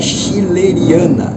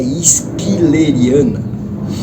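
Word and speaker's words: schilleriana: Então tudo que tem sh, ch é como se fosse um q. Então é se escreve prostia. Mas se lei prostequia, eh, a Catleia chileriana, ela não é chileriana, ela é esquileriana, mas por aí vai.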